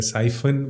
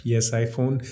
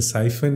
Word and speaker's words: Psiphon: have this psych okay p is silent okay it's a siphon vpn not psi phone i used to call it a ps iphone but it's a siphon actually okay and we